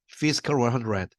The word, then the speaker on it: Physical 100: 영어로 Physical 100. 피지컬 하면 안 됩니다. 영어 발음은. Physical 100.